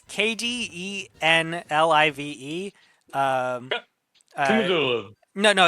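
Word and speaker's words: Kdenlive: software I found it's KD n l i v e um no no it's I was pronouncing it Kaden live but it's based on the uh Linux uh software package KDE so it's kdn live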